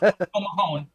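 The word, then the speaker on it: Póg mo thóin: It's pronounced Pomahone, and it's Kiss My Ass.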